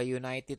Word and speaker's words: united: envelope a flower a United team nah ini juga sama bacanya you bacanya huruf HID huruf mati ya United you a United team ya bukan ununited karena dibacanya why a butterfly a truck